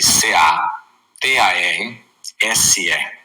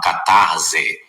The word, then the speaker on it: catarse: A catarse escreve c a t a r s e, né? Alguns falam catarse, mas a pronúncia correta é catarse.